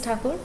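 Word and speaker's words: Tagore: country awake these lines were written by rabindranath taco taken a bit of wag hearing the war the god pronounced as tucker now this is the sense of freedom that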